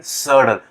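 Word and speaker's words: subtle: Anyway, तो सडल, इसको हम पढ़ेंगे सडल, तो बी साइलेंट है।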